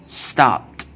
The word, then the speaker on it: stopped: When it's put ed after stop, see this per sound is voiceless sound. Then we will pronounce it stopped, stopped. And pass, we will pronounce it passed, passed. We will not pronounce stop it or pass it.